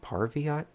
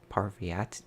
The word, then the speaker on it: Parvati: this name in the last mission I was pronouncing it like Pahlavi RT by thing it's like Parvati Parvati Parvati I forget she's my favorite character but